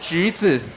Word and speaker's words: 橘子: By the way, the oranges in Chinese is pronounced 橘子, which is the same pronunciation as fortune, 橘 and 吉.